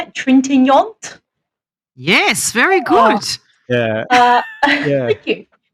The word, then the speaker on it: Trintignant: Trintignant?